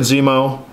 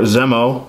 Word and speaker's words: Zemo: the Hydra Soldier uh Baron Zemo or Zemo as whichever way you'd like to pronounce it and the aim Soldier